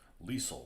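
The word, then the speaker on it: Liesel: fix three of them lisel rhymes with diesel I really enjoy doing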